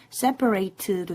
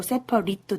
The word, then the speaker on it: separate: 실제로는 그래서 분리된 separate이고 분리하다는 separate예요. 네, 그래서 기억을 해두시면 되고 자.